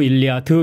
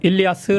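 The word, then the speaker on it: Ἰλιάς: 뒤에 어미 띄어 버리고 일리아드 이렇게 발음하는게 영어와 불어에서 사용하는 명칭이고 히라 하고 라틴어 그리고 독일어에서는 헬 일리아스 아고 합니다 그래서 우리도 주격으로 써야 되니까 일리아스 하자고 어네 뭐 그런 거 갖고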